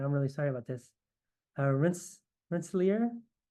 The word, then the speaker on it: Rensselaer: Rensselaer? How do you say the name of your university, Will? No, that's exactly right. Rensselaer Polytechnic Institute.